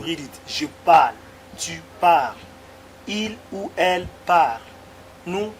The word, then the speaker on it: parles: Je parle, tu parles, il ou elle parle, nous parlons, vous parlez, il ou elle parle. I did not pronounce the S here.